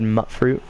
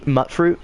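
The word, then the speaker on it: Mutfruit: If it's mute, go ahead, but I say mutt. Like a mutt, like a dog. So I always said mutt fruit.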